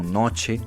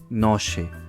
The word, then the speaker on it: noche: Exemplo, em palavras como noche, essa é a pronúncia padrão, mas no norte do México, essa mesma palavra pode-se pronunciar noche, tipo o som do CH em português.